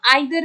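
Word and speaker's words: either: तो इस वर्ड में जो फोनेटिक सिंबल है, इसको हम ईदर भी बोलते हैं, इसको हम आइदर भी बोलते हैं, ठीक है। दोनों अलग अलग, जैसे आप अलग अलग देश देखोगे तो अलग अलग प्रोनाउंसिएशन है।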